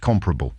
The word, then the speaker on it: comparable: learn to pronounce the word comparable correctly it's pronounced comparable thank you all the important issues being addressed